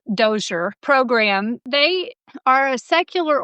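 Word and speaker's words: DoSER: Triple AS dialogue on science ethics and religion pronounced DOER program.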